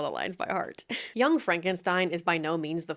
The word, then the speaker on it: Frankenstein: response to Frederick saying his last name is pronounced Frankenstein. Frankenstein.